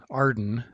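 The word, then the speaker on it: AREDN: radio emergency data network which is often pronounced arden based on the acronym made from its first letters arden provides a way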